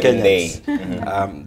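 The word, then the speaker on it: Ndii: Ndi or Ndei, seems pronunciation has been wrong. Yes, we've been saying it wrong. It's apparently Dr. Ndei.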